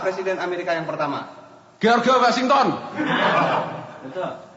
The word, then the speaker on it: Washington: George Washington. Betul. Bukan Georgi. Apa bacanya jangan letar lagington. Oh iya jangan George George Washington.